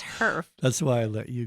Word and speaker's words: HERF: Herf. HERF I keep wanting to say funds. I I keep wanting to know. say like heifer, like a I know, cow, I but know. it's herf.